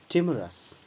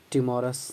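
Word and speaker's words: timorous: इसका एडजेक्टिव है टिमरस। Correct pronunciation आप देखें, प्रोनाउंसिएशन पर हमेशा गौर करें जहाँ तक संभव हो। It's adjective is टिमरस। ध्यान दें, टिमोरस नहीं है, टिमरस, टिमरस, टिमरस, फियर, टिमरस।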